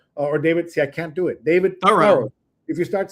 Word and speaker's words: Thoreau: That name is pronounced Thorough. I was Thoreau my whole life, but it's now Thorough. Thorough. Yeah. Thorough is how you pronounce it.